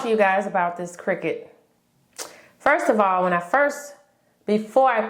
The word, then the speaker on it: Cricut: I forgot how I found out, but I found out on my own that it's not Cricut, it's Cricut. And it is not spelled like Cricket the bug.